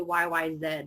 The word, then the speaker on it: YYZ: the yy said as i mentioned but i pronounce it yyz because that's how we say the letter z